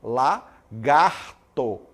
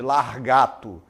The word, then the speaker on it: lagarto: um lagarto também né lagarto em vez de lagarto Então você vai falar lá garto muito bem em vez de largato exemplo aí professor aprender